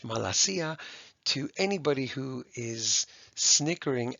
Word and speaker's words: malacia: So this is pronounced in English, malasia. To anybody who is snickering at malakia, I can't comment on it here.